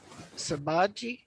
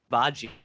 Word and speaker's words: Shibaji: And next on the list is, let me pick up the Sabaji. Is that the correct pronunciation? Sabaji? Shibaji. Huh? Shibaji.